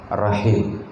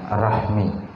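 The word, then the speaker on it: رحم: hakikatu silaturahim hakikat silaturahim membacanya rahim bukan Rahmi kata Imam al-asm arahimu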